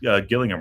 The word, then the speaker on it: Gillingham: so smooth you said Gillingham right I still make the hard G sound Jesus um I I